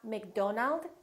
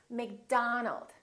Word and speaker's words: McDonald: are going to be spelled with the letter O make sure that you don't say oh it's not Robert it's Robert it's not McDonald it's McDonald alright let's practice repeat